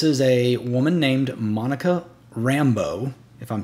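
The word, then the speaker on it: Rambeau: a woman named Monica Rambo if I'm saying that correctly not like Rambo the guy that shoots up everything Rambo r-a-n-b-e-a-u I think it's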